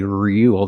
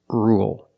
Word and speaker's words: rule: about rule with rule we don't say rule there's no y it's just R dark L rule example you need to